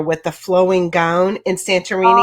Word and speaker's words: Santorini: Am I saying it right? Santorini. Santorini. Yeah. Is that how you say? Yeah. You got you got it right.